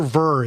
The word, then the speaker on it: Ver: sir thanks for having me Jim am I pronouncing your last name correctly is it Roger ver is that right that's just fine okay close